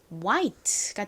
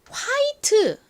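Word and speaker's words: white: 있죠 흰색 근데이 단어를 한국식으로는 보통 뭐라고 하나요를 우로 읽지 않고 히로 읽어서 와이트가 아니라 화이트 화이트 이렇게 발음을 보통 합니다 하지만 실제 원어 발음은 화이트가 아니라가 우 소리 나니까 와라는 거 기억해 주세요 발음 연습해 볼까요 흰색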